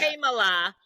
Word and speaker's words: Kamala: Kamala, cat. It's very simple.